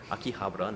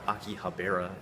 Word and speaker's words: Akihabara: get that pronunciation right Akihabara not Aki Bera as he says and he's filming some